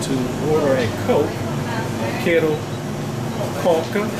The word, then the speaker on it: Coca: here, Fanta, of course, Coke. Important thing to remember when you come to Brazil, if you say you want to order a Coke, quero Coca, notice they pronounce it Coca, not Coke.